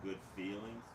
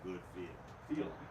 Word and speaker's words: Good Feel: No, we'll have they'll Good feeling and a common mispron mispronunciation is good feelings, but the band is actually called Good Feel.